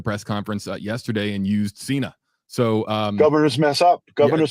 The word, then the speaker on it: Sena: John Cena she said Cena is PR it's pronounced Cena and it's spelled c n we are Senna